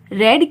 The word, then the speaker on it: read: रीड रेड, रेड की spelling तो READ ही रहेगी, पर उसका प्रोनाउंसिएशन हो जाएगा रेड। आई रेड a book in past.